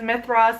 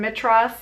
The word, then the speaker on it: Mithras: Roman deity of Madras it's pronounced sometimes Mithras and Madras you'll see up kind of both ways let me know if